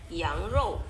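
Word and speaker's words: 羊肉: Nah, R ini bacanya nggak ke R banget ya, 羊肉. Jadi R-nya itu agak dimundurin dikit aja, jadi row, ya, nggak usah row, ya.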